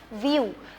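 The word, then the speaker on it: view: word को कैसे करूंगी व्यू बिकॉज़ वी साउंड क्या है व वन I sound again ink से ई ईड के साथ यू व्यू व्यू ओके क्योंकि वी आई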